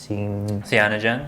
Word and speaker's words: Cyanogen: And then the UI, I think, is how do you pronounce it? Cyanogen.